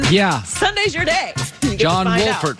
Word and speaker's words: Wolford: Sunday's your day John Wolford pronounced the L he said it's Wolford and I I'll say